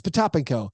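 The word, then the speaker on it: Potapenko: What's the proper pronunciation of Vitaly Potapinko? Pete? Yeah. And he said it's Potapinko.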